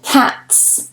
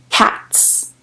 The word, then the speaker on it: cats: If you said cats with s, then you are correct. Cats, cats. It is a voiceless sound, t, t, t, t.